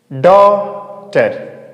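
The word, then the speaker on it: daughter: तो इसे क्या पढ़ेंगे? डॉटर, डॉटर, हम जीएस का प्रोनाउंसिएट नहीं करेंगे, क्या बोलेंगे इसको डॉटर, ठीक है।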